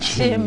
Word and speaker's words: Nkyim: Chin. Let me spell it for you.